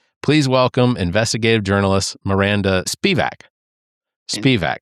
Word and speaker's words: Spivack: Thanks very much for having me, for protecting me, for, pronouncing my name correctly. It is Spivack.